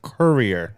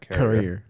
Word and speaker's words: Courier: Although it's pronounced Courier, not Carrier.